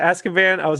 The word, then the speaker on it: Azkaban: harry potter and the prisoner yeah was that azkaban is actually how it's pronounced scott the prisoner of esca band that